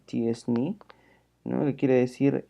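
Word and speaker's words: t-SNE: Y por último, una técnica más sofisticada que se llama T-Distributed Stochastic Neighbor Embedding, que se pronuncia TSNE, ¿no?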